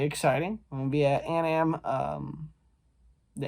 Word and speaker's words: Anam: i'm gonna be at an am um the anam building a n a m i think it's uh anam i don't pronounce it